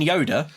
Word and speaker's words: Yoder: That's not spelled like Yoda from Star Wars. I know. I've not said it out loud before, and as soon as I said it, do not imagine Yoda.